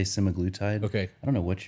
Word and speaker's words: semaglutide: semacletide specifically so people am I saying it wrong I say some agletide can and any other Medical Professional would say semiglutid okay I don't know